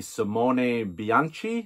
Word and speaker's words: Simone Bianchi: favorite italian artists now people sort of pronounce his name a few different ways but i've actually heard himself say simone bianchi and that's very wicked